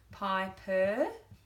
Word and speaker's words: piper: goes to the right, piper. So we've got open syllable. When a vowel finishes a syllable, it feels vulnerable, says it's a long sound, that says piper.